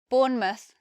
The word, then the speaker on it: Bournemouth: from Middle English but we change the way we say the word mouth when it's at the end of the word when it's at the end of the place now it sounds different to how you would expect we have Plymouth Bournemouth Yarmouth so instead of mouth it becomes mus we have the schwa there so the sound of